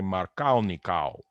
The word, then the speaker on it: Markovnikov: If you're Russian as Markovnikov was, you would say Markalnikov.